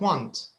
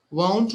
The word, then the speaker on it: won't: of vote is like don't you have to be a little careful with the pronunciation because if you're not careful it will sound like want i want a chocolate right want so there's a difference want and won't won't like don't the same sound won't don't all right